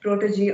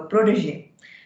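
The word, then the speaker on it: protégé: officer i saw that the word protege was mispronounced as protege or something the right pronunciation for the for the word is a protege which means a person who's under the mentorship of another one so overall judging the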